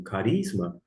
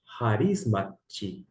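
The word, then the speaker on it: χάρισμα: vem de risma ou alguns pronunciam como carisma e a leitura na pronúncia erasmiana com a ligeira adaptação que eu faço é harisma de maneira que nenhum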